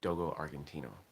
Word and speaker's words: Dogo Argentino: I believe the pronunciation is Dogo Argentino, which I'm pretty sure translates as Argentine dog.